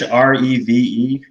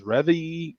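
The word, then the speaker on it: Rêve: Reve coffee roasters? Reve? Is the accent on the first E or the second E? First. Oh, so that's probably an accent aigu, not an accent grave.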